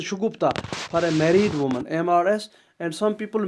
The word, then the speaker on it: Mrs: Shugupta for a married woman, MRS. And some people mispronounce it as Messrs. This is not Messrs, this is Mrs.